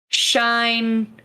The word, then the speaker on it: Shine: I always say the second half of her name wrong, so I want to go look at it. It's Shine.